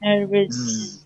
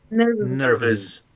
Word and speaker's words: nervous: Haciendo vibrar las cuerdas vocales, ¿cierto? Como sonido de Z, ¿cierto? Nervous. Más que S, no es una S, es una Z. ¿Ya? Nervous.